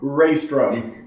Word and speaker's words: Reistrom: a little interesting going back and forth with pronunciation. Would you please tell us who your character's name is? Sunshine. Reistrom.